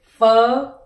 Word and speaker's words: Phở: next one is o 500 and together is fo fo and you add in the mark for